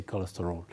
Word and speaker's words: cholesterol: in Arabic you say cholesterol so the word is a noun and you say cholesterol so the stretch is on L cholesterol right and it's a